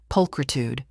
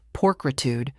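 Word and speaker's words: pulchritude: We spoke of the next day's port, of the iguanas Lily hoped to see, of Max's new favorite trivia word, pulkritude, which he'd pronounced porcitude, to great dramatic effect.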